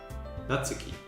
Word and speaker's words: Natsuki: can't really even help by typing how to pronounce it properly cuz it's kind of specific short shot for n natsuki natsuki that's quite right there's a soft you okay